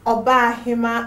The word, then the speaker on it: Obahima: I'm really sorry, last time I think I got her name wrong. It's Obahima Abigail.